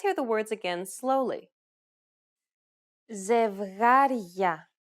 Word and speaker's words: Ζευγάρια: In the first, you will notice the addition of a sound very similar to the English Y in the word yard between the consonant and the opening diphthong. For example, Ζευγάρια.